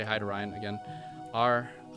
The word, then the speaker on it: Ryan: Raian. That's how you say it.